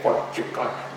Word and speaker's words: Fort Yukon: And this is Fort Yukon, or as the locals say, Fort Yukon.